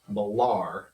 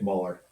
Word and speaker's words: Muller: Couldn't be happier than to have Nick Malar. Nick Muller. He always corrects. He's very sensitive about the pronunciation of his name.